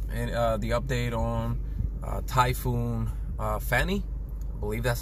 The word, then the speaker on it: Fani: you know guys and the update on typhoon fanny believe that's how you pronounce it it's lamp india a few hours